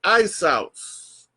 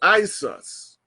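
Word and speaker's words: Iesous: And that pronounced is Isos or Isus.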